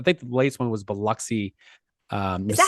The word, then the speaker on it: Biloxi: think was I think the latest one was Biloxi um is that how you say it I